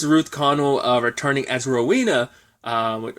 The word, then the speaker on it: Connell: I was I think in my head I always say her name is Ruth Connolly but it's Ruth Connell I always put Connell in her name but regardless I was